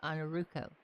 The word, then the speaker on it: Ainurauco: run by Yours Truly on our rufo for anybody that ever has trouble pronouncing my name because it is a little weird just call me but it's actually pronounced on a ruko but don't forget to